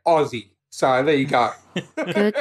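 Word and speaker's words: Ozzy: the god of Medal Aussie Osborne Black Sabbath ousie Osborne that's how we say it Aussie so there you go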